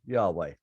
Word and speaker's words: Yahweh: Unpronounceable name for God, all consonants, no vowels. That's right. Yeah. Usually anglicized as Yahweh.